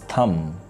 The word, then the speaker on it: thumb: the correct's word is thumb b is not going to pronounce here another word in this